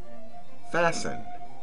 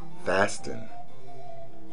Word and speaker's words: fasten: being pronounced centuries ago you should never pronounce the T in the following words listen never listen hasten never hasten fasten never fasten soften never soften for